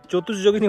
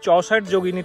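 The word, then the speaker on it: চৌষট্টি যোগিনী: একটু ভুল বলে ফেলেছিলাম, চতুর্যোগিনী বলেছিলাম, অ্যাকচুয়ালি চৌষট যোগিনী টেম্পল, মানে 64টা যোগিনীর টেম্পল এটা, চতুষ মানে চারটা, ভুল করে চতুষ বলা হয়ে গেছিলো, উচ্চারণটা একটু ভুল হয়ে গেছিলো, 64 যোগিনী টেম্পল এটা।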